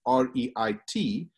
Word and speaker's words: REIT: Yeah, it's called a REIT, is how they pronounce it.